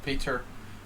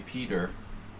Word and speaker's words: Peter: seven games i'm sorry i'm pronouncing your name in hungarian style if i was living united seats i would say peter we have more of a like european facing audience so if i go for a name pronunciation i'm gonna lean toward the european pronunciation i suppose bishop d7